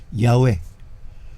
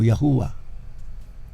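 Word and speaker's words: Yahweh: Sa griego o sa Hebrew y H wala pong bawel sound. So sabi ng iba, ang pronunciation here is Yahwe o Yahua. All right.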